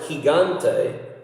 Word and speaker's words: gigante: Which is funny, you take the word gigante, which means giant, you have a soft G at the beginning, and in the middle you have a hard G. Gigante. So it's H. It's Gigante. Gigante. Gigante. Soft and hard, right there.